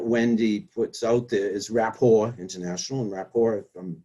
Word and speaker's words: rapport: It's rapport, a French word. And it's And it, spelled Rapport, so that's why you were joking about it, because it ends yes, in a yes. T, but it's a silent T for the French word, right?